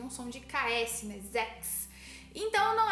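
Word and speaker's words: sechs: Então, zex, ele já tem um som de x, né? Desse K aí, né? Ele já tem um som de KS, né? Zex.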